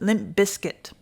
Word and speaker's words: Limp Bizkit: Bizkit or I think Carl says we pronounce it Limp Biscuit so I'll try to